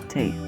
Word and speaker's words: Tea: So if you are reading The Bone Witch, the pronunciation of her name is T.